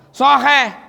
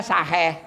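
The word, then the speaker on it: صحيح: Soheh. Ini nggak soheh, tapi bilangnya saheh. Maknanya pelit. Tuh.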